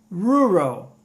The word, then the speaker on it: rural: A gente tem que fazer o R com um som bem de interior mesmo.